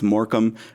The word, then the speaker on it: Morecambe: of a certain pedigree the first time I saw it spelled I didn't know how to say it uh so I was glad that somebody did say that it was moram and then immediately Robin